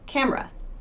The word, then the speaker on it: camera: camera cam earth we don't say the e sound in camera in fast speech we say camera camera it's that again this is called the schwa the rule is to use it for unstressed syllables so listen to the